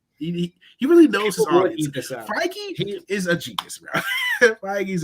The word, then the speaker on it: Feige: Feige is a genius, bro.